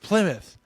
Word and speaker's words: Plymouth: And it's pronounced Plymouth.